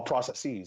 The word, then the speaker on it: processes: order processes and communications all processes and communications that is the proper way of pronouncing the plural of process indeed so yeah state